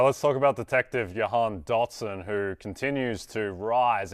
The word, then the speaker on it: Jahan: I don't know how they pronounce it in Australia, but here in America, it's Jahan. The J is the stronger there than you pronounced it here.